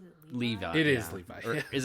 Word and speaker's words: Levi: true story um they could probably get Zack Levy pretty cheap now we don't want Zack Levy